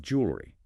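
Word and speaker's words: jewellery: In British English, this is often compressed. While you could say it has three syllables, eleri fast standard speech frequently reduces it. It becomes more like two and a half syllables, often blending those middle vowels. The key is avoiding that overly slow, very distinct three-cllable American structure.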